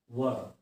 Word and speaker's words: were: The right pronunciation of the word is वर। आपने जो invitation card पे देखा होगा वर वधु, that is the same pronunciation of this word were।